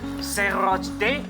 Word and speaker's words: Chapultepec: Let's listen to how our guide pronounces the name of this castle in Spanish. 查普爾特佩克 Chapultepec.